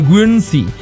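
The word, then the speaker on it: Guernsey: সেটা হচ্ছে গেঞ্জি তো একচুয়ালি বানানটা একটু অন্যরকম যাকে বলে ভজকটো জি ইউ ই আর এন এস ই ওয়াই গ্রুনসি বা এটাকে একচুয়ালি এটা গেঞ্জি বলা হয় এটা হচ্ছে খুব পুরনো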